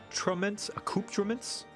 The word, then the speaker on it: accoutrements: to the etherite yep done uh it's pronounced aku acouptraments accoutrements means knickknacks ah okay that's for our next